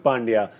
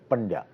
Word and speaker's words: Pandya: Pandya. Pandya. As in, starts with a bad joke, yeah, Pandya.